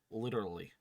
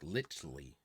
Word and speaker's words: literally: Literally. I mean, that's how you say it. But I like it was harder. I struggled. There's this one kid that Jazz watches on YouTube, and he says like litly, Litly?